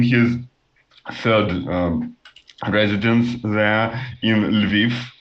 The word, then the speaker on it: Lviv: third residence there in Lviv. I think this is how it is pronounced in English. It's also Lviv in Ukrainian, Lvov in Russian.